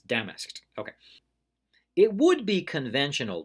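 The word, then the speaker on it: damask'd: into fancy cloth if it had been spelled by the way with an e d and said an apostrophe D that would be Damus Kidd but the apostrophe tells us that that's just two syllables damn asked ok it would be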